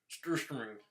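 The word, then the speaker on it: surströmming: Or the correct pronunciation, Sturströmming. Love me some of that Sturströmming.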